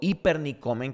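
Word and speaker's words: ὑπερνικῶμεν: Pero la palabra Nike o hipernikomen, que es como se pronuncia en griego, significa más allá que una victoria.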